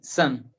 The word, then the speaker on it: listen: So always say li, then sun.